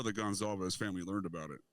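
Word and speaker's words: Goncalves: One of the, and I think it was Gonsalves. Is that how you pronounce the one girl's name?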